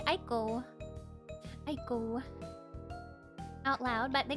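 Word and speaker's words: ICO: It's pronounced Iko. Iko from the Japanese Wikipedia page. Interesting. I've only heard people say Aiko.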